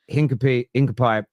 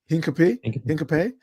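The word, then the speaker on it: Hincapié: Yeah, he says here that Hincapie prefers to join Arsenal and the Premier League side are ready to push for him despite departure materializing.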